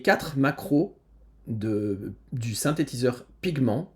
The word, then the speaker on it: Pigment: macros de du synthétiseur pigment qui est un synthétiseur de ou pigment si on prononce ça à à l'anglaise qui est un synthétiseur